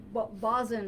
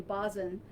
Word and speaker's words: boatswain: That was Bosun, I think it's pronounced. I had to learn that, Boatswain, Bosun, Alton Wilson, during the Great New England Hurricane in 1938.